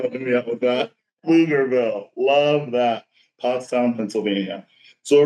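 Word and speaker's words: Pflugerville: Um, don't try to say the Blugerville. B is silent. The B is silent. Thank you so much for helping me out with that. Flugerville.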